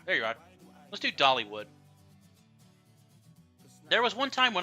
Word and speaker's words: Dollywood: All right, let me pull up the Dolly World. Dollywood. Dollywood. It's Dollywood, not Dolly World.